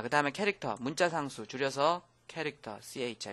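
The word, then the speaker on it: char: 자, 그다음에 캐릭터 문자 상수 줄여서 캐릭터 CH 이거를 뭐 차 그러는데 그러면 안 되고요. 캐릭터라고 읽어 주는게 좋겠습니다.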